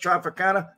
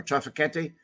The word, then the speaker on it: Trafficante: am I just counting cetos traficana no or trafficketti however you want to pronounce it no I'm not I'm not discounting anybody but I think they all had a handed I think it's trafficante um Santo trafficante um